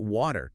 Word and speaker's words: water: Now, let's look at water. W A T E R In American English, the T becomes very soft. It sounds almost like a D. Water. Water. It's called flapping. Let's try check.